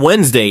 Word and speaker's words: Wednesday: The D in Wednesday is to bleep with you. Best explanation ever for why Wednesday has a silent D.